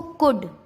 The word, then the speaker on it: could: डी से पहले, जैसे COULD, क्या इसको कोल्ड पढ़ेंगे? नहीं नहीं नहीं। तो डी से पहले एल आ रहा है तो इसका एल साइलेंट हो गया, तो क्या पढ़ेंगे इसको? कुड।